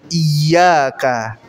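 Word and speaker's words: إِيَّاكَ: na'budu Wa iyaka nastain yang benar adalah dengan tasdid iyaka iaka artinya hanya kepada engkau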